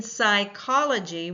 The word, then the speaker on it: psychology: In psychology, we do not hear the P sound, the P sound.